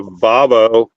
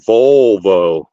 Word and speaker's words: Volvo: that I was telling her I had a vavo and she said no it's a Volvo she was like well what's a vavo and